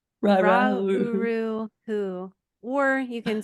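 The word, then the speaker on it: Ra Uru Hu: Ra-uru-hu, or you can Ra.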